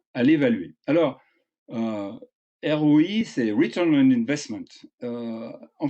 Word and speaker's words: ROI: Alors, ROI, c'est Return on Investment.